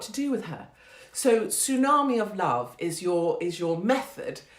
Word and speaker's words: tsunami: Also, I like saying the word tsunami because you can pronounce the T.